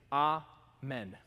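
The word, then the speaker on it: אָמֵן: In Hebrew, if we were to pronounce it that way, it'd be amen. Amen.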